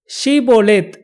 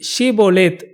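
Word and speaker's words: Shibboleth: இங்கே என்ன இந்த வார்த்தை ஷீபோலேத், இது மிலிட்ரி கோட்வேர்டா என்றெல்லாம் நம்ம சிந்திச்சு பார்த்தா இது ஒரு சீக்ரெட் கோட்வேர்டெல்லாம் இல்லை. இந்த ஷீபோலேத் என்ற வார்த்தையின் அர்த்தம் நதி. எப்பிராயிம் தேசத்து மக்களுக்கு இந்த ஷீ என்ற வார்த்தை அந்த உச்சரிப்பு அவர்களுக்கு வராது.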